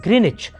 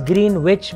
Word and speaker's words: Greenwich: then at a place in the UK called greenich now it's written as green witch but it's pronounced greenich for some reason I don't know